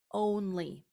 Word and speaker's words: only: But then when we say the word only, we hear that long o sound. Only. Well, once upon a time